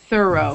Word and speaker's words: thorough: Thorough. Though. Thorough. Although. Or no. Though. Or no. Thorough. Thorough. Thorough. Thorough. Yeah, exactly. Thorough. So it sounds like throw. It's the same sound as in throw.